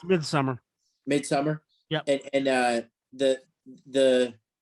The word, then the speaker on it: Midsommar: the guy who made It's pronounced Midsummer.